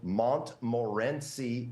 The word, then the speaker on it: Montmorency: They're called Montmorency cherries. That's spelled Montmorency cherries.